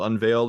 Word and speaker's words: Unveild: Yeah, my company's called Unveiled. It's spelled UNVEILD.